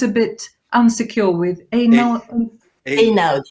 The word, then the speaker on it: Einaudi: it was Natalia's husband, Leone Ginzburg, who founded the, I know, how do you pronounce? I'm always a bit insecure with Einaudi. Einaudi. Einaudi.